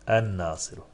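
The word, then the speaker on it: النَّاصِرُ: El Nasiru denir mi? Denmez. Yanlış. En Nasiru.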